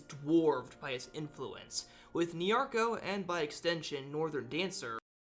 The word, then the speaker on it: Nearco: With Nearco and by extension Northern Dancer Oh, that's how you pronounce that. I thought it was Nearco.